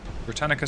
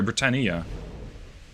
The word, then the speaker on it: Britannia: guys they're just stationary britannica sinks sorry britannia saying it wrong all this time britannia so we are inside